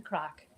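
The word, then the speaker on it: craic: Now it's spelled different. It's spelled C-R-A-I-C, and it means come on round, like come on round and like what's going on?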